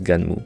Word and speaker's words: Gunnm: Ouais, à Skip, ça se prononce Ganmu.